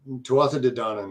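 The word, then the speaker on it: Tuatha Dé Danann: were straight from the tuata de Dinan right pretty close yes did I say that correctly I think too often to Donna is the way it's usually pronounced I was I was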